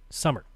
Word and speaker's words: Sommer: Last name is pronounced like the season. Summer.